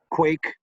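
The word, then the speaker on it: quaich: that is yeah quick it's spelled qu AIC H and it's pronounced quake like earthquake and it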